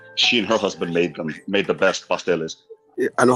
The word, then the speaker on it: pasteles: How do you Pasteles. pronounce that?